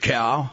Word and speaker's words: Chao: camping at all sacred cow simon asked it's pronounced that way but you spell it c-h-a-o a cow is a